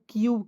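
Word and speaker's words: cube: नियम समझना है देखिए सी यू बीई का उच्चारण दोस्तों क्यूब के रूप में पढ़ेंगे देखिए सी का आधा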